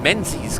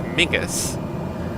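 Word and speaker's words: Menzies: like it which is where the name menes comes from um actually pronounced in Scottish as migus um but yeah that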